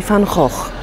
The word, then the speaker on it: van Gogh: je po polsku, bo w oryginale nazwisko Wincenta brzmi Fan Hoch, czyli co najmniej dwa dźwięki realizujemy w sposób inny niż jest to właściwe dla języka oryginału.